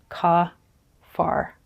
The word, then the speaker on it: kaphar: So this is the kaf, the letter Pe, and the letter Resh, ka-far. Another way of pronouncing this word is Kippur. So if you think of Yom Kippur, it's the Day of Atonement. And that is what Gabriel is actually saying.